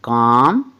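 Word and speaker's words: calm: एम वाला भी तो एम से पहले आया एल ब तो सायलेंट होता है जैसे सी ए एल एम काम पी ए एल एम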